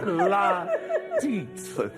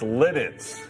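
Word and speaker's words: Lititz: It's called La Teats. Can I ask the producer, did she say that right? I don't know. That's how it's spelled. You got it right. It's spelled. No, it's Lidditz.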